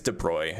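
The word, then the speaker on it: de Broglie: It's a French name. It's I think it's de Bruy is how you pronounce it.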